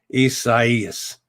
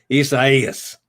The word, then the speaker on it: Isaias: Isaias. There it is. Isaias. That's the way Jim Cantori's trying to make me say it.